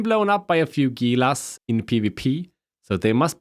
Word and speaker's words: Gila: Next up is the Gila. Yes, I pronounce it Gila, not Gila.